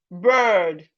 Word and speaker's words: bird: I know average Nigeria will pronounce these two words the same. They are not the same. The first one is B-I-R-D, bird. B-I-R-D, bird. While the second one is bed. It is not, they are not the same at all.